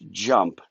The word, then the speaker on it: JMP: the name of it we call it jmp jump jnp pronounced jump it's got a unique